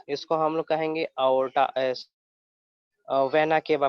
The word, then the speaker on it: vena cava: इसको हम लोग कहेंगे aorta, वेना केवा प्रोनाउंस करेंगे, वेना केवा.